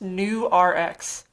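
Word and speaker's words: Nurx: really bizarre branding project so that's actually supposed to be pronounced new rx like new prescription mmm but it definitely raised as newark s-- and it's mostly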